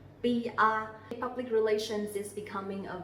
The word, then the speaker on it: PR: PR. PR. Very easy, right? So you will see that the P sound here we will pronounce very strongly. P. Not like P in English. PR.